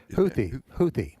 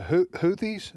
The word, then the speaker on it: Houthi: And by the way, do you pronounce them the Houthis? Is that Houthi?